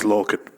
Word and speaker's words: Lorcan: His surname is full of those, but his first name is spelled pretty much how it sounds, I think.